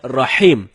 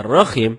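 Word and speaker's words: رحيم: Rohim artinya Maha merdu bacaan yang benarnya Insyaallah dengan huruf ha ha dalam tenggorokan jadinya Rohim bukan roh Kim kalau temen-temen bacanya rokim itu dapat merubah makna atau arti dari ayat suci Alquran telah kedua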